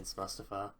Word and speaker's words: Mustafa: Mustafa sorry Mustafa Al Mustafa is the more anglicized pronunciation mustapa I'll do my best to say it as mustapa but MF then defeats